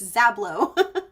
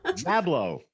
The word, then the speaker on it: Zablow: you say that correctly it's hard it's um it's it's suedo Romanian it's zablo zablo so zablo